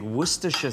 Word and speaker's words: Worcestershire: This is fantastic Worcestershire sauce.